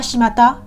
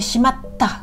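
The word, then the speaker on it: しまった: 4 hiragana, donc shi, ma, t, le petit tsu pour retenir, ta. Donc c'est pas shimata, c'est shimatta.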